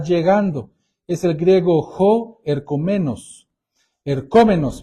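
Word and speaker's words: ἐρχόμενος: es el griego Jo eromenos ercom menos Perdón eromenos tiene acento en la o el que está llegando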